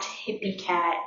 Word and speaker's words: Hyppikat: find me on instagram my instagram is at hippie cat but it's spelled at h-y-p-p-i-k-a-t and then um you